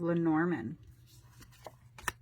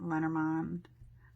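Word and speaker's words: Lenormand: me a lot of La Norman or some pronounce it lenormond I say the Norman baggage old car cross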